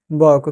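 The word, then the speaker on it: walk: फिर क्या राज को टहलना चाहिए, तो should Raj वॉक, question mark, ठीक है। यहाँ पर फ्रेंड्स बहुत सारे स्टूडेंट्स बाल के पढ़ते हैं, WL के, यहाँ पर फ्रेंड्स L साइलेंट रहता है, ठीक है।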